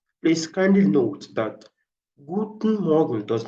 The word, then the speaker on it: Morgen: Now, when you pronounce this stuff, when you're pronouncing the morgen, the AN, you assume that the letter E is not there.